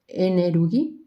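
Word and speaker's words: エネルギー: So it's pronounced Enerugi.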